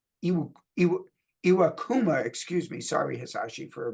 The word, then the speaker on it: Iwakuma: by a Japanese pitcher that was by hasashi aama I iwakuma excuse me sorry hasashi for mispronouncing your name on my first try August